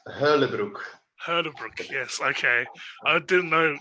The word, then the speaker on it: Huylebroeck: you your last name is it Brook uh close enough it's Hurley Brook yes okay I didn't